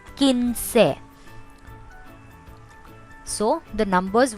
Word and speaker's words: quince: 15, quince. Remember, QUI here is pronounced quince.